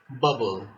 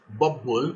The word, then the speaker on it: bubble: Bubble, bubble. Another example of gemination. Not bubble, but bubble, bubble. Just a single P is pronounced or produced, not double, not the two.